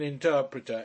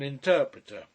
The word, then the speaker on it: interprete: "Everybody would want an interpreter, everybody." But he did not say interpreter, he said interprete, with the accent on the penultimate, as if it were some sort of priest.